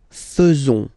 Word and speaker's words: faisons: Then nous, so it's quite strange because French people tend to pronounce faisons, okay? So like here, this a-e is not pronounced like normally we should pronounce it, like e, but then like e.